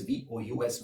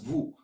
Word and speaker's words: vous: vous, the spelling is V-O-U-S, vous, right, is the formal version. And again, here S is silent in the end.